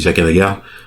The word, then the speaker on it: Jaqen H'ghar: cheveux blonds, se nommait Jaqen H'ghar. En tout cas, on dit H'ghar parce que je crois que dans la série il dit Jaqen H'ghar.